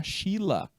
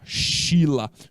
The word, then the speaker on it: Sheila: olha só foi a chila a Sheila né galerinha em inglês a pronúncia fica essa tá bom Sheila em inglês ela é a chila Foi ela quem enviou